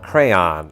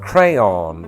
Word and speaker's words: crayon: First, you've got crayon, a pronunciation favored primarily by Americans east of the Mississippi. Then you've got crayon, which is popular out west in the northeast and some parts of Appalachia.